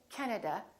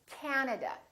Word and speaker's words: Canada: and also 3 a's this time the first syllable is stressed this time this act is really long so don't say Canada say Canada Canada so you need to ask